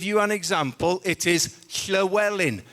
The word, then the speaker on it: Llywelyn: I'm sorry to interrupt again, but this is possibly my last opportunity to get you to pronounce Llywelyn's name properly. It is not Llewellyn.